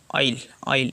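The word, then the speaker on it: aisle: अगला वर्ड है ऑयल। इसको कहते हैं, बहुत लोग इसमें जो एस है साइलेंट होता है, इसको कहते हैं ऑयल, पढ़ा जाता है ऑयल।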